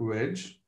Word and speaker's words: wedge: This thing is pronounced wedge and not lambda. It's not the Greek letter lambda.